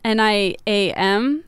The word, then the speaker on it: Niam: Their name is spelled N-I-A-M, and we were discussing how to say it, and we'd settled on Niam.